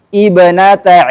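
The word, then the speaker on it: ابنت: Kalau kita mulai setelah kata Maryam bacanya ibnata Imran.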